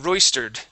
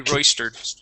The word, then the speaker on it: royster: so had royed okay did did you say royed I thought I I thought I heard ER at the end I tried yeah okay yeah it would be it would be Royster can you repeat again